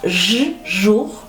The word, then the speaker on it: jour: Jour. Fíjate que aquí tienes OU y OU se pronuncia U. No es O, es U.